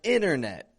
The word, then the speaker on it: internet: Words like internet. That word has 2 T's in it, and I'm not actually pronouncing either of them.